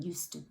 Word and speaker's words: used to: we say used to the D sound assimilates to the sound that follows it which is the turn